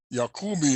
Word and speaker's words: Jacobi: Jacobi is actually the correct pronunciation.